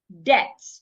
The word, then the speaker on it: debt: According to a rule, when you have letter B before letter T, most times the letter B becomes silent. Debt.